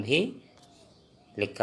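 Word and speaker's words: ভাল: भाल अच्छा मतलब भाल इसका उच्चारण भी लिखा हुआ है लाल अक्षर में भाल ब्रैकेट में कमरा कमरा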